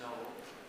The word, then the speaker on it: KNOL: It's pronounced Noel.